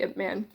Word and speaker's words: Ip Man: man I always say I say it wrong so I say I'm P manda it's really it man anyway it's based on the